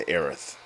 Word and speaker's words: Aerith: we we run into aerith or heiress aerith errors whatever um they do call her eryth in here so they go with the japanese pronunciation reach sector